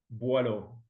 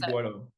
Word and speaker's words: Boillot: Hey Buo. Am I saying it right? Correct me. Please pronounce your name. Buo. Okay, Buo.